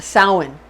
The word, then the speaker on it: Samhain: It looks like it's spelled Samhain, but it's actually pronounced Samhain.